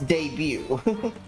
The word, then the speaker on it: debut: it's weird isn't it it doesn't sound like debut but it's debut well I mean when you spell it it's like debut yeah see the tea is silent isn't that so weird